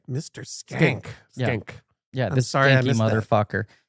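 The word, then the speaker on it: Schenck: Reign you in and how do you pronounce his name Mr skank we were corrected on this I thought it was shank that's what I would have thought too but Dana said it was skank right Mr skank stink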